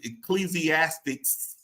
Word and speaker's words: Ecclesiastes: It is, Melissa, help me with this, and if I say it wrong, it is Ecclesiastes.